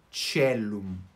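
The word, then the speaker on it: caelum: Esse ditongo A e E, quando nós temos o ditongo, nós pronunciamos E e não AE. A pronúncia reconstituída, eles falam AE. Mas aqui, na eclesiástica, se tiver um ditongo AE, fica E, tá? Então, E, antes de C, fica CE, celum.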